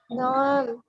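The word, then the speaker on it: نعم: Naam, iya mudarrisah. Ah, ketika kita jawab na'am, usahakan sesuai dengan porsinya. Ainnya di situ kan pendek tuh, nggak ada huruf panjang ya. Jadi kita bacanya na'am.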